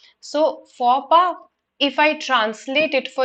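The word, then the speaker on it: faux pas: is silent and p the x is silent right just like in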